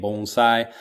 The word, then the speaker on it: bonsai: also like having learned the correct pronunciation since I've come to Japan bonsai instead of like bonsai bonsai which is actually a different thing in Japan when people put their